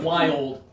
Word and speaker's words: wild: But if some Americans and some native speakers will do it as 2 syllables, so do it that way. Do the 2-syllable way.